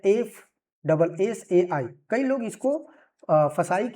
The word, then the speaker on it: FSSAI: से भी जानते हैं, बट फसाई प्रोनाउंसिएशन सही नहीं होगा, बट ठीक है, बोलने के लिए हम बोल सकते हैं फसाई, लेकिन इसका सही जो उच्चारण होगा वो क्या होगा, FSSAI यानी कि FSSAI, food safety and standard authority of India.